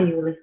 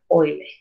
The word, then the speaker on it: Euler: É que eu costumo falar Euler, tá, gente? Mas a pronúncia correta é Euler.